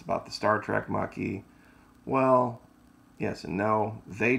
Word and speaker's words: Maquis: six steps ahead now a lot of people mispronounce my channel it's the Florida Maki ma qu is know